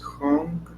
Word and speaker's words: Hong: And when we inhale, we pronounce Hong, and when we exhale, so.